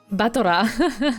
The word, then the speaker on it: Battler: Yeah, the way they pronounce it, it almost sounds like butler. Batora.